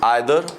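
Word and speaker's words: either: है या तो या, इसे हम ईदर और भी बोलते हैं, नीदर नॉर भी बोलते हैं, जो सही प्रोनाउंसिएशन वही रहती है ना।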